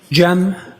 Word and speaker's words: Cem: It's officially spelled CM. Uh, last name. I also spell it with a G. Gem M.